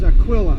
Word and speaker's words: Aquila: want to pronounce it I think the true pronunciation is Aquilla there's a constellation I believe it's Aquilla and